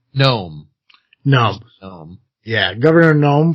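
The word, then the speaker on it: Noem: And then for Corona Light, we're going to use uh the Governor uh what you say, how do you pronounce her last name? Gnome.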